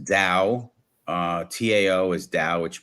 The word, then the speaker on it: Tao: book the book and and the reason it's pronounced Dao uh Tao is Da which means the way